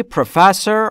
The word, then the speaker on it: professor: Is she professor or doctor? What is just her title? Title عنوان. عنوان اوی خانم چیست؟ Is she professor? Professor یعنی پروفسور. بچه ها تلفظش رو دقت کنید. Professor. استرس روی F.